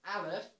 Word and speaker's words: aleph: greek etc except for in hebrew you pronounce it as aleph which is where arab